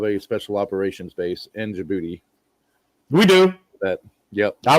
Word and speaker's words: Djibouti: The D is silent. It's just the G. Djibouti.